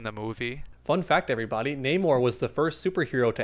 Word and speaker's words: Namor: Namor, yeah. It's actually pronounced Namor. One of the first superheroes, actually.